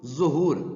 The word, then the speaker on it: ظہور: دل تو وہی چارسو ہے۔ حرمت، آبرو، ظہور، ظہور، جہاں پہ یاد رکھے گا زوئے پہ پیش